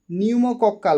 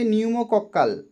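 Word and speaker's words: pneumococcal: নিউমোকক্কাল, বানানটা দেখো পি দিয়ে শুরু কিন্তু উচ্চারণ হবে নিউমোকক্কাল কনজুগেট ভ্যাকসিন কোন রোগ প্রতিরোধ করে?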